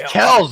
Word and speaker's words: Kelce: Actually, it's Kells, motherfucker.